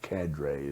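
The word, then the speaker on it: cadre: C A D R E or CADRA as the Americans say it.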